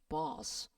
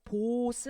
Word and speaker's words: boss: 턱을 밑으로 쫙 내렸자 나는 사운드예요. 길게 뽑아야 돼요. My boss, boss. 알겠죠? 보스 아니에요? boss예요.